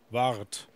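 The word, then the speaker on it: waard: mispronounced this. Ward. W-A-A-R-D. Wart.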